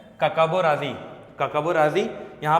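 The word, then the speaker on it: Hkakabo Razi: पर है, क्या है, काकाबो राजी, एच इज साइलेंट, ठीक है, काकाबो राजी।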